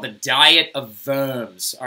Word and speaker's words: Worms: so and it's pronounced verbs because it's a german city and they do not pronounce W's like we do okay so they would